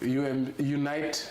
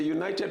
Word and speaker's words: Unite: I also hear, when you hear people, mispronounce the name, Unite Movement for Change. Yeah, so Unite. I hear people say United Movement for Change.